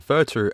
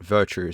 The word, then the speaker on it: VERTU: I finally found out that it's actually called VERTU and not VERTU, so if I pronounce it wrong during the review, I'm sorry.